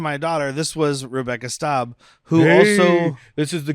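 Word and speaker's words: Staab: And then Susan Storm, played by another welcome back, Rebecca Staub. Who we previously was pronouncing Stab.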